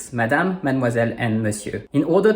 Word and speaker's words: Madame: Ms and D are similar to English and the E at the end is silent, according to the rule we just learned with Bonne nuit. So it’s Madame.